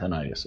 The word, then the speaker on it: tinnitus: My tinnitus or tinnitus is pronounced tinnitus.